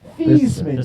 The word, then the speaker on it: Theismann: His name was actually pronounced Thiesman. Yeah. He changed it to He said that recently. That's exactly how it was spelled. That was interesting. He But changed he it wanted to sound like Heisman.